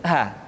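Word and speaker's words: ح: Perhatikan huruf ha seringkali diucapkan dari dada. Ha. Ingat, di dalam makharijul huruf kita tidak mengenal pengucapan huruf-huruf dada. Tidak ha, tetapi ha.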